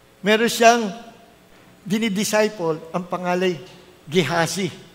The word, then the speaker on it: Gehazi: Meron siyang dinidisciple, ang pangalay, Gehazi. Sa English, pronounce nila, Gehazi.